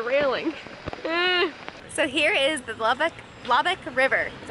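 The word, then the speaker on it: Loboc: hand for the railing so here is the lubbock river that's how you say it love it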